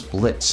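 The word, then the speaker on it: Blitzø: I'm Blitzo, the "O" is silent.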